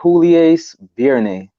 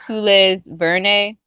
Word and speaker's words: Jules Verne: the author might be Julius Verne. Of the book, right? Yeah, Julius Verne. I didn't read the book. It is Jules Verne. Yeah, like Verne. Jules, but I think it is spelled Jules.